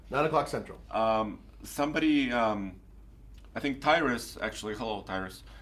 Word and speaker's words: Tyrus: Was it Tyrus or Tyrese? No, this is a T-Y-R-U-S. Okay, just wanted to make sure your name was pronounced.